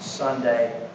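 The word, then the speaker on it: Sondag: That's spelled S O N D A G pronounced Sunday.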